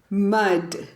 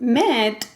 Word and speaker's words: mud: mud which is barbara mud yeah but it's difficult to pronounce this word because you can confuse it with met like crazy man yeah MIT a mud